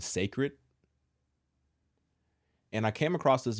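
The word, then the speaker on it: Cécred: though it is spelled that way Beyonce does pronounce it as sacred for people that may or may not understand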